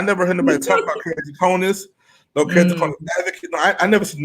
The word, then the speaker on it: keratoconus: disease before, and I don't know how to pronounce it. So, one more time. Keratoconus. Keratoconus.